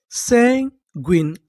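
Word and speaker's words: sanguine: अगर आपको इंग्लिश के किसी भी मीनिंग के आखिरी में इ लिखा मिले तो हम लोग इ का उच्चारण नहीं करते।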